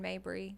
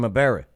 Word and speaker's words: Maberry: Aaron Mabry. Yeah. No, Aaron Maberry. Oh, did I say it wrong? No, that's how I go. What's up, Maberry? Maberry. Yeah.